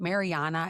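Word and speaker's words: Marija: It's not is it Mariana? Is that how you pronounce it in English?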